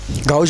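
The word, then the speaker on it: gauche: इसमें S silent है q गाउज बोलो या क्यू बोलो तो इथेन के तीन प्रिंसिपल कंफर्मर हैं।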